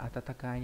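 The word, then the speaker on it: 暖かい: Đấy, đọc là Atatakai nhá.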